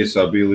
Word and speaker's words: Sabil: Sabil? Sabil? Mhm. Sabil. Sabil. Sabil. The way Sabil. It's helping me say Sabil, even though it's spelled B-I-L. I'm imagining it B-E-L. So now I'll say your name right.